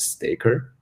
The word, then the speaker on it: Stkr: we know we back then we called it Staker right and uh and and it's it's spelled stkr but later was rebranded to staky